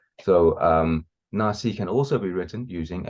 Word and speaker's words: Naxi: It looks like it's supposed to be read ki, na ki. So that's why some people call them the na ki. But this ki is supposed to be read as si.